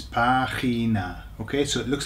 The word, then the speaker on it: página: Página, página, página. Notice where the accent is, it's on the A, okay? So it's página.